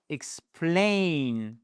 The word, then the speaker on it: explain: Vous avez explain. Tout ceci là, c'est votre seconde syllabe et c'est celle qui est porteuse de l'accent tonique.